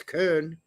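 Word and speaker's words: Köln: know nobody complains when people say Cologne when it's Kern okay okay all right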